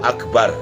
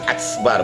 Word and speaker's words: Akbar: Nah, jadi Allahu Akbar, kapnya itu harus dihameskan, karena menurut ilmu tajwid, kap kalau atau kap dan ta kalau disukunkan dibacanya hames, jadi akbar, bukan aksbar, bukan aksbar, tapi akbar, ya.